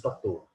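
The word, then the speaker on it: Patau: Escreve-se Patal, pronuncia-se Patot.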